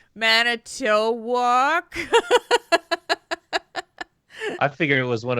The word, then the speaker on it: Manitowoc: Manitowoc.